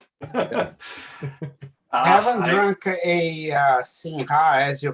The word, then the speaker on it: Sinha: I know in Portuguese the HA is pronounced with a nya. Yeah. Right? Yeah. So or you don't pronounce it.